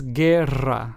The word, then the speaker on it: guerra: But then we have the word guerra, which means war, and is pronounced as guerra. So, as you can hear, I had to roll my Rs here, since this word has two Rs.